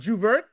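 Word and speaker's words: J'ouvert: Oh, Carnival, or is it pronounced Juvert? What's the Juve.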